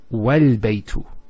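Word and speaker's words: والبيت: that with hamzat al-wasl, if it starts off a sentence, it's pronounced. So, al-baytu. But if there's something before it, let's say a waw, what happens? It's wal-baytu. So this is not pronounced because it's in the middle of a sentence.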